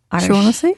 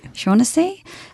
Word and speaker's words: Shaughnessy: I can't quite pronounce that uh Shaughnessy. Shaughnessy.